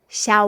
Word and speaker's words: Xiaowen: only her Then we say her name is Xiaowen Xiaowen wen as in zhong wen , ok What does she do when she gets up?